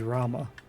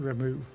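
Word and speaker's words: Ramuh: the same thing as with Rama or Ru however anyone wants to pronounce it I think the correct way is Rama but I know including myself always pronounced it remu now is it up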